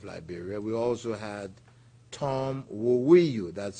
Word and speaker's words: Woweiyu: We also had Tom Woweiyu, that's spelled W-O-W-E-I-Y-U, Tom Woweiyu.